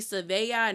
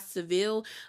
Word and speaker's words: Sevilla: I think the reason why she was critiquing how Americans say Seville. She was like, it's supposed to be Sevilla, not Seville.